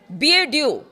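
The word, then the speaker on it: BeiDou: ईरानी सेना के नेविगेशन को अमेरिकी जीपीएस से हटाकर चीन के एनक्रिप्टेड बीएड्यू जिसका जिसकी स्पेलिंग है बीई आई डी ओ यू तीन पर ट्रांसफर किया है।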